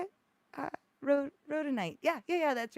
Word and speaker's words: rhodonite: is that how you say it wrote ro rhodonite yeah yeah that's right sometimes um uh and